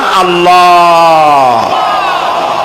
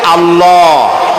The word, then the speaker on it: আল্লাহ: আমার আকাশের দিকে আমার জমিনের দিকে আল্লাহর নাম আল্লাহ বলেন তো আল্লাহ নয় কিন্তু আল্লাহ হচ্ছে অশুদ্ধ শুদ্ধ হচ্ছে আল্লাহ বলার সময় মুখটা গোল হয়ে যাবে বলেন তো